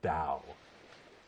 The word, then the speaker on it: Dao: The word would be pronounced as Dao, but you would recognise it spelt as D-A-O.